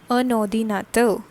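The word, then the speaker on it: un ordinateur: have done the same this o gets connected to the n in front of it and it collectively produces the pronunciation like a nodi natto which is computer okay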